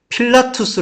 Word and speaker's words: 필라투스: 그리고 빌라도 라고 말 할 때 는 필라투스 라고 발음 합니다 .